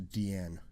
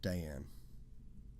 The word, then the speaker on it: Diane: Bess 1923 to 1971 she preferred that her name be pronounced to Deanne instead of Diane the people and ideas